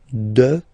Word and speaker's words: dehors: Okay, so remember, final S not pronounced, and then this H in French doesn't exist phonetically, so you don't pronounce it. Dehors, dehors, dehors.